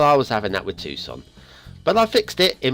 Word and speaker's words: Tucson: to myself all morning it's Tucson by a bluey bean Tucson not as I was incorrectly pronouncing it and I'm not even